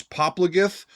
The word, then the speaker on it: Popplagið: It ends with this funky looking, what looks like to me like a D, but Philip has told me that pronunciation is a soft TH sound, so that's how I'm doing it.